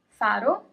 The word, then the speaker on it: faro: Faro, no accent, faro, and the word with the accent is farò. Faro, farò. The first word without the accent means lighthouse.